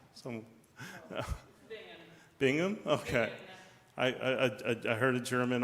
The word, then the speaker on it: Bingen: Hildegard von, I've heard a German pronounce it Bingen. Some, Bingham?